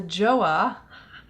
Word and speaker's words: JOAH: way for my brows I'm going with the joah thanks to everyone who told me how to pronounce that Jo ah this is a